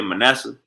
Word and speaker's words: Manasseh: That's how you say it, Manasseh.